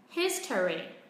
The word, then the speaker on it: history: Và nói nhanh, history. History. Vì trọng âm vẫn không thay đổi, vẫn rơi vào âm tiết thứ nhất.